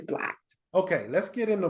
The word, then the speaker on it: B+LOCKED: blocked a little bit am I saying it right or is it be locked no it's blocked okay let's get in